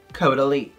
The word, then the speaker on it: Caudalie: Yes, it's pronounced Caudalie.